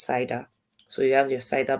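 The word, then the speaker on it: CIDR: your CER blocks right C is actually an acronym we're also going to look at it in the slides today but pronounce cider so you have your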